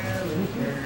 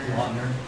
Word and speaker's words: Lautner: Garcia, Taylor Luker, Lautner.